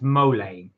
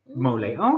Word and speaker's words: mole: yep let's do it uh Sam said it's pronounced mole like like Gua mole mole okay so but it's mole poblano thank you